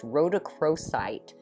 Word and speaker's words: rhodochrosite: pretty i did look this up and it's pronounced rhodochrosite and it's a stone that integrates physical and